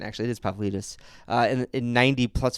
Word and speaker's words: Pavlidis: That's a good pronunciation, actually. It is Pavlidis.